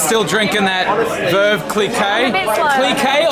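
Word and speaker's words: Clicquot: Cliquet or Cliquot? How do you say it, internet? I say Cliquot because that's what he says in the song.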